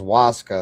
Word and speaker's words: ayahuasca: So the ayahuasca is pronounced Waska, okay.